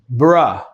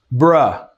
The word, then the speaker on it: bruh: Pronunciation, guys. Bruh. Bruh. Bruh.